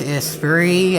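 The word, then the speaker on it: Esprit: Lotus is actually pronounced is free after I looked it up that it has a t in it it why would a British car have a silent T that's like calling the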